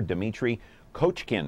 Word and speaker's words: Dimitri Kochkin: pleased to welcome into our program right here Demitri coachin right yes all right I pronounced it correctly now where are you from